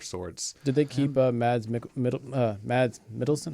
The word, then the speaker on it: Mikkelsen: Did they keep Mads Mikkelsen?